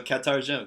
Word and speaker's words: katarjum: Yeah, it's pronounced ka at the beginning. So ka. What? Good. What's your name? Very, very good. That's awesome that you could figure that out. Yeah. So katarjum, that's what's your name.